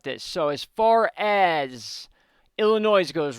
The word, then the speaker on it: Illinois: let's talk about this so as far as Illinois's goes right now Illinois sorry the S is silent I know that now thank you so